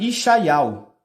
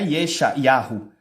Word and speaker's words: Ishaial: O nome de Isaías em paleo-hebraico é Yasha, Yal, mas Israel, seu nome é pronunciado Ishaial, não é Yesha, Yahu. É Ishaial que é pronunciado o nome de Isaías em Israel.